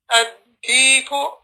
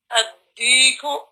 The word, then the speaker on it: الديك: You don't pronounce the lam, it's being added to the next letter and there's a shadda to represent it.